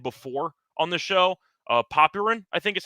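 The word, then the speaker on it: Popyrin: I know that it's technically pronounced Paparin, but he doesn't deserve that after what happened today uh yesterday.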